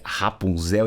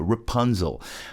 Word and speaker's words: Rapunzel: Rapunzel, que é Rapunzel em português, mas olha só a pronúncia, Rapunzel.